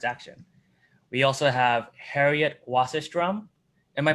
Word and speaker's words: Wasserstrum: We also have Harriet Wasserstrum. Am I pronouncing that correctly, Harriet?